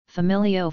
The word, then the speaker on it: familio: For example, familio family is, with the stress on the second I, but when the word is used without the final O, the stress remains on the second I.